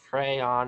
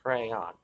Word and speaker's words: crayon: It's spelled crayon. It's pronounced crayon. There we are. Rhymes with man.